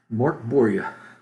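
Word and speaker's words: Mörk Borg: Okay, work. So Mork, Mork. Mork. So like Boria, Boria. Yeah, Boria. Boria. So Mork Boria.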